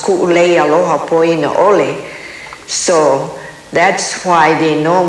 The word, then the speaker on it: Kuʻuleialohapoinaʻole: maid but we'll call her she couldn't pronounce kuu lei aloha Paulina Oh Lee so that's why they know me now by